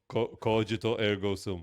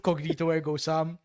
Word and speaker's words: Cogito ergo sum: Cogito ergo sum. It's not cognito. Of course, it's not cognito. Cognito is incognito. Is a perverted form of incognito.